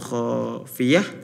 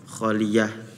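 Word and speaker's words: خافية: Terus juga ada di surah Al-Haqqah minkum khafiyah, tadi dibacanya kholiyah.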